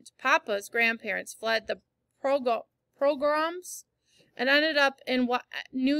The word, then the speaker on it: pogrom: Pogrom.